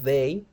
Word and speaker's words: they: esta palabra que es they they th también es TH pero no se pronuncia como como como como el thank you esta th aquí se pronuncia más como una d perdón como una d d de dedo day